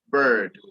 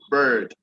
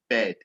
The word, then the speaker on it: bird: So you can see some people will call the one that flies bed, and also the one you lie on also bed. But if you're using the right pronunciation, the right vowels and consonant, the way they should be used, then the one that flies is known as bird, bird. Whereas the one you lie on is bed.